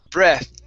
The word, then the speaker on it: breath: now with that sound make sure that you you are using your tongue and not your teeth okay because it sounded like you used an f saying breath okay using your teeth and your lips okay you want to use your tongue and your teeth okay okay breath breath